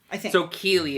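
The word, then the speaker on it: Cadhla: again I'm going to it's spelled c a d h l a um k k yeah something like that so cuz the D's are silent yeah so key is how we would say it but it means beautiful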